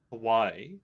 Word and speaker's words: Hawaii: a firm believer that we need to pronounce it the correct way and give the respect towards that. And so with that, that's why I always pronounce it Hawaii.